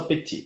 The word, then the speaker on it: Petit: O último T não fala, só Petit.